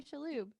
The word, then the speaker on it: Shalhoub: his name probably right Tony shaloob oh I know for sure oh amazing I'm positive